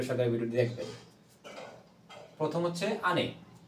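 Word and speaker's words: 兄: করা যাক ধৈর্য সহকারে ভিডিওটি দেখবেন প্রথম হচ্ছে আনে আনে হচ্ছে আনি আনি যে কথাটার অর্থ হচ্ছে আনি হচ্ছে বড় ভাই আমি উচ্চারণটা লিখে দিছি এখানে উচ্চারণ বাংলায় উচ্চারণ আনি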